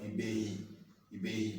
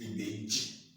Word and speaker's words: Ibeji: call Ibehi, and then because they pronounce J H, so it's called Ibehi, but the true pronunciation is Ibeji, because Yoruba language does not pronounce J or DZI as H. So people call it Ibehi. The people will pronounce it Y, Ibehi, but it's Ibeji because it's like Meiji, double.